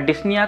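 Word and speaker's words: dyspnea: Next जो हमारा case है वो आता है हमारा डिसनिया का। हां बिल्कुल पी साइलेंट है।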